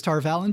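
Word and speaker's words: Tar Valon: Who we learn are from this place called Tarvalon, or Tarvalon, depending who you ask. I believe the official pronunciation is Tarvalon, but they pronounce it differently in the video game and in other places.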